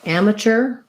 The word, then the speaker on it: amateur: and the ch sound so amateur first syllable stress and mature second syllable stress um yeah those are